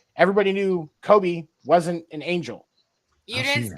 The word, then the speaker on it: Kobe: I do know that Kobe's white.